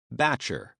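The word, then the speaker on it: batture: The word's French roots are somewhat obscured by its pronunciation, which like many imported words has been adapted to the southern accent. Batcher.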